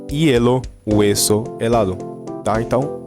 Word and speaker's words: hielo: O H, ele é mudo, tá? Em espanhol, ele é mudo quando ele está no começo da palavra, tá? Como em hielo, hueso, helado, tá?